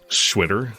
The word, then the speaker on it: Xwitter: And so it has it's like a Chinese X pronunciation, and it rhymes with shitter. It sounds like shitter.